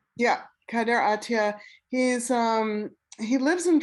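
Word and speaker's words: Kader Attia: fascinating video art piece but is am i pronouncing this name right kaider atiya yeah kader atiya he's um he lives in france he's um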